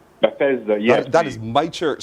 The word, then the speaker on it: Bethesda: But the pronunciation is Bethesda. Bethesda, yes.